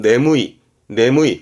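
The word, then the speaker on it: 眠い: 발음은 네무이.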